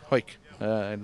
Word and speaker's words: Hawick: It's been a big year for you, starting off in Scotland at Hawick, and then, what was it, Hawick? Hoik. Those Scottish pronounced things funny.